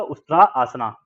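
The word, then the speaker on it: उष्ट्रासन: Pronunciation क्या है उसका, प्रोनाउंसिएशन क्या है सेकंड आसन का? उस्त्रा, उस्त्रा, ठीक है। तो इसका प्रोनाउंसिएशन है आपका उस्त्रा आसना।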